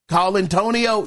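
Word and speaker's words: Colantonio: name right, man, but I think it is pronounced Colin Tonio. It's spelled C O L A N. Colin uh Yeah, Colin uh T O N I O. Tonio. Colin Antonio. Yeah, man.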